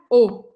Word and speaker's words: eau: Isso aqui está escrito três letras, mas a gente pronuncia O. E pode ser meio estranho para você isso no começo, porque você vê três letras, mas fala a única letra que não está aqui, né?